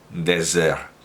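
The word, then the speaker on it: Déserts: Por lo demás, para que quede claro, para quien me pueda reprochar una imprecisión o ambigüedad en la pronunciación, Désert.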